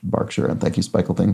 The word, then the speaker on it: Berkshire: historic County to the west of London is pronounced Berkshire not Berkshire which I as I pronounced it probably because